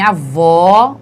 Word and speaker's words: avó: Então, em avó, o som é aberto. Entretanto, em avô, o som é fechado, certo?